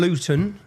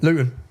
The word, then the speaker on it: Luton: And to anyone if you don't understand Luton Luton see I pronounce my tea there. We don't pronounce our te's. I've done that for you. How do you say it? Luton bottle water.